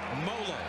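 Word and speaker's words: Tuimoloau: who JT to him it's molo like Rollo folks that's how they tell us to pronounce it well he's been playing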